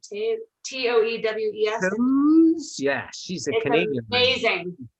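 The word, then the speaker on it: Toews: Toewes.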